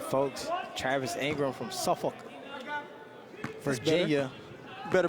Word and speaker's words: Suffolk: I told you it's not folk, it's Suffolk.